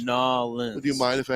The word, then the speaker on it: New Orleans: If you're going to say it right, you got to say it right. Nolans. I'm close. It's Nolans.